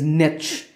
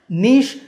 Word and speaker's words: niche: The traditional pronunciation of this word is niche, but due to influences from other languages like French, niche has become more popular. In fact, it's the more common pronunciation in British English nowadays. I personally prefer niche because saying niche might make you sound artificial, but of course, both niche and niche are acceptable.